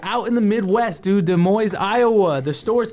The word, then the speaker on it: Des Moines: to Los Angeles Unified School District, it's Des Moines. Des You don't Moines. pronounce the She's S.